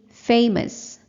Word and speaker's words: famous: dictionary you can see famous you will learn that the stress is the first syllable indicated by the stress mark and the schwa symbol